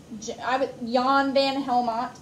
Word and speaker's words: Jan van Helmont: Jan Van Helmont, because a lot of times in Dutch countries, they say the J like Y.